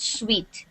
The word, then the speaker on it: suite: This is pronounced suite, okay?